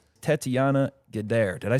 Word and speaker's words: Gaidar: Tetiana Gaidar, did I say your last name right?